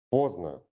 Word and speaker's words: поздно: The letter D is silent in complex consonant clusters. For example, праздник, сердце, поздно.